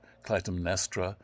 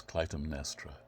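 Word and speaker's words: Clytemnestra: are in the play and to his wife Clum nestra not the easiest of names to pronounce so I will you'll hear me repeating it and I hope you can follow it and her as Clum nestra um and comes home to her although alas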